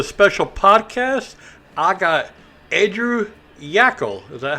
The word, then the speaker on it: Yackel: I got Andrew Yackel.